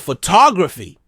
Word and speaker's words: photography: Now, think of 'photography'. The stress shifts: pho-TO-graphy.